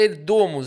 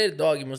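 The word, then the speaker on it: Erdoğmuş: O Magnus Carlsen estava jogando uma partida empatadíssima contra o prodígio Erdomus, ou Erdogmus, diz que a pronúncia certa é Erdomus, a gente tá acostumado a falar Erdogmus, né? O Dog Dog.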